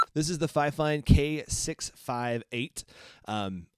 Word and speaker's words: Fifine: the fifein k658 um i'm gonna go with fifine i've watched about five different youtube videos trying to figure out how to pronounce this company's name and uh that's kind of the general consensus i heard a few other names but that's we're going to go with this is the fifein